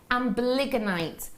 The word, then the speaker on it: amblygonite: Is it, I can never pronounce this word, never ever, amblygonite. I always want to add a D in there.